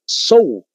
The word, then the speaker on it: Zhou: En tercero está la dinastía Zhou. ¿Cómo se escribe esta dinastía?